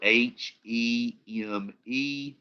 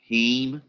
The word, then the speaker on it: heme: a heme group okay it's spelled h e m e but it's pronounced heme it's actually very similar